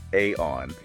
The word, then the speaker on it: Aion: And specifically, we're going to unpack aon management that's pronounced aon.